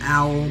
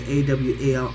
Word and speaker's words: awl: And I had been pronouncing it owl, but it's not owl, it's A-W-L, awl.